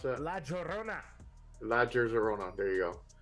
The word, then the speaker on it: La Llorona: How you pronounce that? La Llorona.